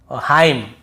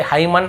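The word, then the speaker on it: hymn: को नहीं पढ़ना है जैसे ऑटम कॉलम डैम हाइम तो यहां पे हमें ऐसे ऑटम कॉलमन डैमन ऐसे हाइमन ऐसे नहीं पढ़ना है ठीक है क्लियर हो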